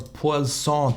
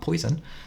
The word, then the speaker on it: Poisson: We have random or Poisson disk. I think that's how you pronounce it. I'm sure it's not poison.